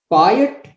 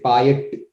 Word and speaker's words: payattu: you could just say buy it like that you kind of trip over the last sound a little that literally means the